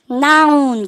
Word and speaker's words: noun: 그럼 보세요. 어떻게 하게 됩니까? noun 그러셔야 됩니다. 어학연수 갔다 오셨는데도요, 여러분들 이거 읽어보라고 하면 noun이라고 얘기하는 그런 친구들이 많거든요.